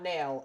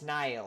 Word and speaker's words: Niall: it's spelled nail nail it's not nail it's niall or something like that um and we got